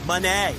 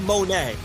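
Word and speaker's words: Moné: to give me one Monee is it m m m Monee not even it's not money M it's not Monet it's Mone Mone M Mone Mone Mone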